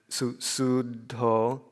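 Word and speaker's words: Suddho: And then sudho, and again that sud is long because of the double D.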